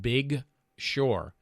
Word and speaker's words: Big Sur: It's spelled S-U-R, and it's pronounced Big Sur. B-I-G for the first word, and S-U-R for the second word.